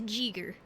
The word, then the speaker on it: Giger: e hard g e r got it it's jiger or hard G yeah Giger so I guess